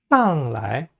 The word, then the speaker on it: 来: 방향보호로 쓰이는 来하고 去는요, 약하게 경성으로 발음합니다. 上来, 上去 하는 식으로 좀 약하게 발음하세요.